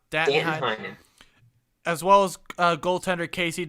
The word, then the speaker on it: Danton Heinen: Dayton Heinen. Did I pronounce it? Danton Heinen.